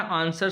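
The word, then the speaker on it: answer: तो आंसर में डब्लू जो है वो क्या है, साइलेंट है। आंसर में जो डब्लू है वो क्या है, साइलेंट है, साइलेंट।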